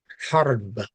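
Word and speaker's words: حرب: Harb, that's the word for war. Harbun, harb. H, guttural.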